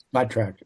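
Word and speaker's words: Spotrac: Um is it pronounced spo spot track or spot track? The spot track.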